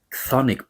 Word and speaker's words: chthonic: spelled, by the way, it's an incredible spelling in English, Chthonic. Chth.